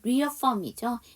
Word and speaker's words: reaffirm: 자, 여기 보시면 제가 잘못 발음했죠. reaffirm이죠. 이게 재확인하다.